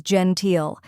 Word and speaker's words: genteel: the Jen in gentle next is teal which rhymes with feel and is stressed now let's put it all together Gentile try repeating after me Gentile now a little faster